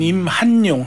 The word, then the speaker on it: 임한용: 선생님 본명이신가요 궁금합니다 본명은 임한용 한자 돌림이거든요 근데 이게 빨리 발음을 하면 제 이름이 안 나와요 이만용 이만용이다 뜻은 좋은데 뜻은 비슷해요